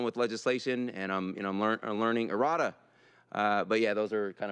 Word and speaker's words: errata: How do you pronounce it? It's the errata.